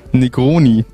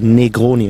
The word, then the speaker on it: Negroni: Negroni. Es hat sich schon gut angehört. Ein bisschen zu viel I beim E. Negroni heißt es einfach nur.